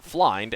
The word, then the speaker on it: flind: And when someone asked how to pronounce flind, F-L-I-N-D, he said it rhymes with W-I-N-D, which can be wind or wind.